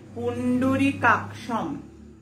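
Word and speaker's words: পুণ্ডরীকাক্ষং: পুণ্ডরী কাকসং আছে না, পুণ্ডরী কাকসং, কিন্তু বলেছি একটু আগে সংস্কৃততে যদি উনস্বর শেষে থাকে তাহলে উচ্চারণটা হবে পুণ্ডরী কাকসম, পুণ্ডরী কাকসম।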